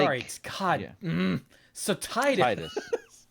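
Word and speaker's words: Tidus: you have deep knowledge of yes I will Titus not tetus no matter how characters in other games might pronounce it out loud because that's stupid yeah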